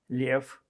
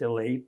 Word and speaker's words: Lev: LK: My name is Lev. It's pronounced as Leib in Jewish.